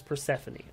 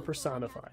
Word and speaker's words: Persephone: For those who don't know, I know her name is Persephone. I call her Personify.